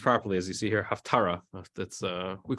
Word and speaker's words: haftarah: second um it was enacted to read the half Torah the half tour does not mean the half Torah a lot of people it's a misunderstanding um the word is actually pronounced properly as you see here haftarah that's uh we call it of Torah also